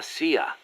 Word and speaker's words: CIA: Around here, they say La CIA instead of CIA, huh? Nothing strange about it. That's how it's pronounced when you read it in Spanish. It has the feminine noun ending a, so they use the article la.